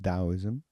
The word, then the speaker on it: Taoism: Dowoism t ao iM pronounced daoism.